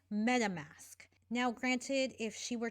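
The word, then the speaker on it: MetaMask: herself say it then she added the text download madam mask which is still incorrect it is meta mask now granted if she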